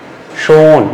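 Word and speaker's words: schön: Now CH and before that S. If S alphabet comes before CH, what happen? You can see schon. Now schon. It means already, and this is with umlaut.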